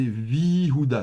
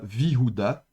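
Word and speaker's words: וִיהוּדָה: de lecture, et donc on va prononcer Vihuda, Vihuda. Donc c'est de nouveau dans cet esprit de se simplifier la prononciation. Donc vous voyez que la voyelle va tenir la longueur, et donc au lieu de prononcer veuilli, eh bien, on se simplifie la vie, on tient une seule voyelle, et donc ce sera Vihuda. Et pareil ici, par exemple, pour Yerushalayim.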